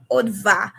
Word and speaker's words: Adva: Adiva Adva. Um um honestly I don't mind but um I in French or in Asian Creole it's Odva but I know it's difficult to pronounce.